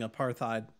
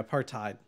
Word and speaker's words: apartheid: Lost Limey got almost blocked for saying apartheid, which is or I'm sorry, apartheid. I always pronounce that wrong because that's apparently a blocked word in the moderator.